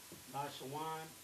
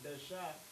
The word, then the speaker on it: Lashawan Qadash: Here you see Lasha and Wan. Lashawan, Qadash, not Dasha, but Dash.